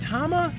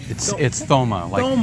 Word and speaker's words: Thoma: Is it Tama? It's Thoma, like throw.